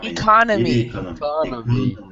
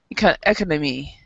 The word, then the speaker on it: economy: So the mistake that many non-native speakers of English do is they get the economics correct, and then they pronounce economy like economy. Economy. So, but remember, it's economy. Economy. Yeah, economy. Economics. So very different in the way it's stressed.